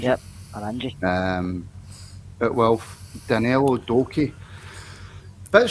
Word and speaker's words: Oranje: Is that how you pronounce it, Kerr? Oranje? Yep, Oranje.